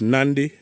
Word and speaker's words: Nadi: So you go LA to Fiji, which is Nandi. Nandi, if you're looking for the word Nandi, it's not spelled Nandi. It's Nadi. But the locals there pronounce their D's as Nd.